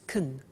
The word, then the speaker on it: can: can speak Spanish now notice the pronunciation of can becomes Caen she can she can